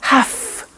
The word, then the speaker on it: have to: pronunciation i have to notice i don't say v i say f have half it becomes have to